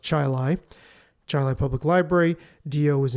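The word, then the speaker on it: Chili: say chil even though to you that says Chile but where I live that's pronounced the town is pronounced Chilai Chilai Public Library di is imploring me to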